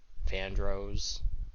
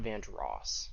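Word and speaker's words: Vandross: It's not Van Ross. Um, it's Ro Vandros like Rose. That's how you can like know. That's how to say it. And that's how to remember to say it. Think of it like a rose, like a fl like the flower.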